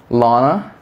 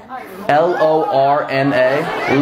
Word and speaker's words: Lorna: be real be present what is your name Lana you're saying exactly what I'm saying Lana Lana I'm not just spell it l-o-r-n-a Lorna not even a real name Lorna what's